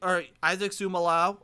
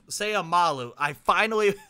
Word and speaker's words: Seumalo: You get a physical, dominant left tackle, Isaac Seumalo, or Seumalo. I've been saying this wrong. Seumalo. We've had him for a while now, and I finally have learned how to say his last name.